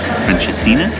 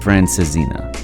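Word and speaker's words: francesinha: most iconic dishes this is the traditional franina I think not even close it's actually pronounced francina and we got the vegetarian option which includes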